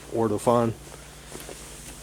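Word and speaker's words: Ortofon: I'm using an Ortophon, that's how you pronounce it, Ortophon.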